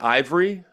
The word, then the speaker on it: Aivre: was talking about, and most of them were saying the name wrong. So I'm saying it right, right? Ivory? Correct. Yep.